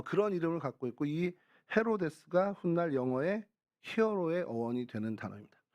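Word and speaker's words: Ἡρῴδης: 중동의 이야기 그 이런데 헬라어로는 헤로데스 헤로데스 헤로데스 어이 헤로데스 또 헤로디아 뭐 이렇게 되는데요 헤로데스 하다 보면 좀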